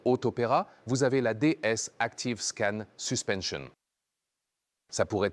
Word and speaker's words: DS: Un grand lettrage, DS. Automobile, quand je le dis, prononcez-le à la française.